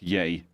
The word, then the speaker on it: Ye: changed his name to yay yeah and it's just Y and but but it's pronounced yay yeah come on why